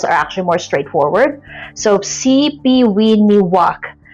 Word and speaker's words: Sipiwiyiniwak: So CPIwok is how you say it but if you read it it will it looks like it's CPIwok. So, here's the trick. Okay, the middle syllable ye just just skip it and read the rest as is.